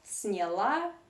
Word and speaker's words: сняла: So if you talk about feminine form, you see that the stress is on the last syllable сняла, сняла. So people, according to phonetic Russian rules, should pronounce ya in weak and stressed position, something in between ye and e. So you do not say сняла, you should say сняла, сняла, yeah?